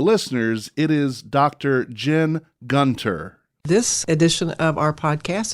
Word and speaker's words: Gunter: again to the listeners it is Dr Jen Gunter this edition of our podcast is brought to